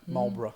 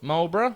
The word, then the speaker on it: Marlborough: from merrell barrow mirror marlborough marlborough yeah like the cigarettes is that how it's